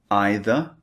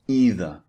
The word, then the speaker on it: either: And you can say either or either. Slightly different. These are the alternative pronunciations, just to let you know.